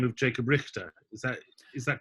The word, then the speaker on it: Richter: Jacob Richter, is that the English pronounced it as in, not as in Loch, but as in rich.